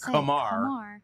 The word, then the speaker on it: Kumar: the same thing I I went back to my old school pronunciation it's Kamar Kamar rocker uh anyway